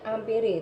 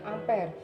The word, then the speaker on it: ampere: satunya adalah a ampere bisanya hampiri Tapi bacanya ampere kemudian dimensinya adalah I